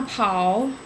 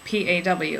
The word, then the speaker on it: Pa: Okay, so on my mom's side, I have my nanny and my paw. And it's spelled P-A, but you always pronounce it like a cat paw, like P-A-W, like paw.